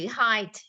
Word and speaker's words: height: Cái thứ hai, cái phần phát âm Diễm, cái độ K mình dùng chữ height, mặc dù nó viết là E-I-G-H-T hả? Diễm phải đọc nó thành chữ height, được chưa?